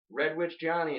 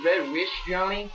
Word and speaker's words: Red Witch Johny: Like people always say Red Wish Johnny. Yeah. And you're like, there's a T in that.